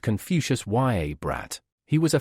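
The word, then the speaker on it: Confucius: his cheek hard and it's pronounced confucious ya brat he was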